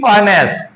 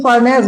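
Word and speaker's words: furnace: फर्नेस देखो इसे फनेस बोला जाता है। फनेस फनेस और रा बहुत कम बोलता है इसका उच्चारण हल्के से आएगा भी कभी-कभी कभी-कभी न के बराबर आता भी नहीं है।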